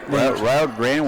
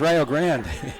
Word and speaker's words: Rio Grande: And that's why they pronounce it Rio Grande. Of course, Ohio's known for pronouncing. Wait, Rio Grande was Wendy's?